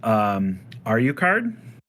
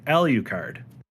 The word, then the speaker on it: Alucard: Now there's two different pronunciations with it, and I think it's just the dialect and all of that. Is Alucard, or some people say Alucard.